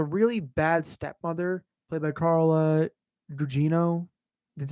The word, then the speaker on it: Carla Gugino: she has a really bad stepmother, played by Carla Gugino. That's how you pronounce her name.